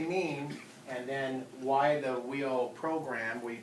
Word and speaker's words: WIO: and then why the wheel program we that's how we pronounce it whe and a stand for